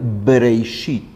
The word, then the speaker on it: Bereishit: Y la pronunciación de Bereishit es justo la pronunciación labial, Bereishit. La Bet, que tiene esta pronunciación de la forma labial, está expresada con una bet que tiene un punto. El punto que es este dagesh y que hace que el sonido sea b.